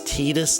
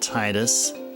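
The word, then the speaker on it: Tidus: So, it's Tetus, not Titus.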